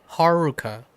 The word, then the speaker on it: Haruka: Um and the biggest giveaway is a lot of the characters names have Rs in them like Haruka.